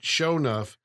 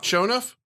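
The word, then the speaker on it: Sho'nuff: he finally does fight sh enough sh enough has the glow has a GL you're saying it wrong show enough show enough show show enough you're saying show enough enough say like yeah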